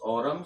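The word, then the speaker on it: Aurum: इसका pronounce ऑरम, संकेत एयू होता है।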